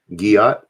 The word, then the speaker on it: Giat: How do you pronounce that last name? Giat. Oh. Like, God dang it.